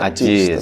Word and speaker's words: Aziz: masa Sis Mas Azis kalau orang Saleh itu tulisannya Aziz dibacanya Ajie seorang haji saja Aji